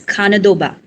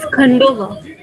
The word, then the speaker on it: Khandoba: where the deity is Khanadoba. Khanadoba is incarnation of Shiva. I might be pronouncing it in wrong way. I'm sorry, but yeah. Okay, that's there. It's Khandoba. Khandoba.